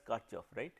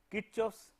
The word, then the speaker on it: Kirchhoff: By the way, some of you may have heard the name as Karchoff, it is not Karchhoff, it is Kirchhoff. The guy was German and German all the letters have pronounced as they are.